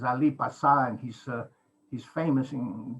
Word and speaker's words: Ali Pasha: ii next please the it's ali pasha but the greek pronunciation is ali pasan he's uh he's famous